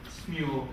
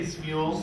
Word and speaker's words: Smule: Smule is what we usually Do you say smule? Smule. Some say schmool. It's all good.